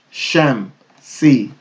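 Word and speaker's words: الشمس: Okay, so we have a shadda, so we're not going to pronounce the alif lam. Ash, sham, sham, sham, si, sham, si, sham, si, shamsi, shamsi, shamsi.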